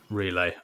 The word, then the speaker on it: Relai: i've been looking at relay for some time actually or is it relay you pronounce it relay okay but yeah it's um